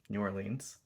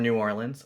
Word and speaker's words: New Orleans: It's based on the New Orleans Square one, so that's why it's in New Orleans or New Orleans or New Orleans, however you want to pronounce it.